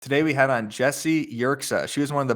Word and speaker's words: Yerxa: We have Jessie Yerxa on the show. Did I pronounce your last name right?